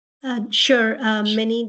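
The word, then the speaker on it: Minie: Uh, Minnie, spelled M I N I E. Last name is spelled.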